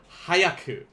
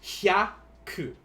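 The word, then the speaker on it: ひゃく: have to remember that this HYA here is one syllable in Japanese. This is not hayaku, because that is a different word. This is hyaku.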